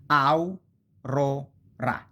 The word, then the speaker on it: aurora: Okay, so you have two vowels together in the same syllable, in the same indivisible unit, like au, ro, ra. Au, a vowel, so this is the diphthong.